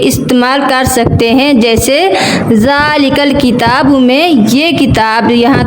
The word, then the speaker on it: ذال: پاک۔ تو ناظرین اب ذال کا تلفظ بھی سیکھ لیں۔ زبان کی نوک جب اوپر سامنے والے 2 دانتوں کے سرے کنارے سے لگے اس سے ذال ادا ہوتا ہے، جیسے ذال۔ ناظرین یہ بات یاد